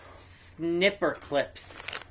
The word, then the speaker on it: Snipperclips: Snipperclips. Snipperclips. Snip. Not snipe. Snip.